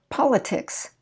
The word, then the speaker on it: politics: rule 6-1 and 6-3 you'll notice that politics well if we followed the rule you see the ic we're supposed to stress the syllable right before it like lit but we don't because it's an exception to the rule politics rhetoric catholic committee